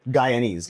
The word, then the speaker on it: Guyanese: Guyanese.